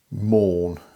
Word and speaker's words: Maun: made by a company called i'm going to pronounce that mourn it's like man but with a u in